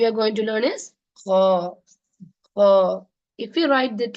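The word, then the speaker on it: خاء: I'm not saying ha. Am I saying ha? No. I'm saying kha. Like that. So alif, ba, ta, sa, jim, ha, kha. Don't say ha.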